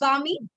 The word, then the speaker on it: balmy: This one with a silent L, that's why it's Bami. This with an R because they cannot pronounce R, so Bami.